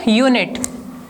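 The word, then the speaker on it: unit: Second, in the second example यूनिट, just concentrate here, यूनिट। Okay, तो इसका जो sound है, प्रोनाउंसिएशन है, वो यू है, मतलब य से स्टार्ट हो रहा है, और य जो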